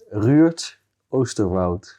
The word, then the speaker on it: Ruurd Oosterwoud: Do you want me to pronounce it the Dutch as I can? The Dutch as you can. Ruurd Oosterwoud.